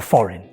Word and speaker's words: foreign: For example, in the word sign, design or foreign. The G is silent before the N.